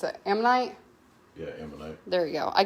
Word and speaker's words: ammonite: have the last how you how do you pronounce it am night yeah there you go i get my amazonite